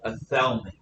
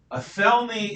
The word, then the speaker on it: Athelney: and loses alfred retreats to a swamp called athelme a felony is spelled uh fell me a-t-h e-l-n-e-y alfred and